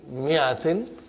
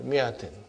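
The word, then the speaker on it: مِائَةٍ: This mi'atin. You better put a kasra here, otherwise it's confusing, brother. In the mi'a, alif is not pronounced. Alif is not pronounced. Okay, mi'atin.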